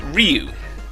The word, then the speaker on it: Ryu: oh yeah, who both agree that it is pronounced Ryu, primarily based on the fact that it's Ryu throughout the entire animated movie, which is, I think, a fair enough observation and line of reasoning. So, Ryu it is.